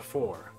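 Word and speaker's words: Pfhor: He says that the aliens behind the invasion call themselves the Four. I'm assuming that P is silent, because otherwise they'd be the Before.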